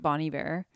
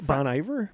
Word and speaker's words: Bon Iver: think this is the i hope i say this right bonnie bear it's the the bon iver bon iver i always pronounce that bond but i always